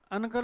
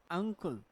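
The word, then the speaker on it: uncle: और ये अनकल नहीं है, अनकल नहीं है, अंकुल। अब ऐसा क्यों हुआ पता है? तो एन के बाद जो सी है वो किसका उच्चारण? स का नहीं है। अरे का का होने की वजह से एन क्या बना? अंग बना, ठीक है।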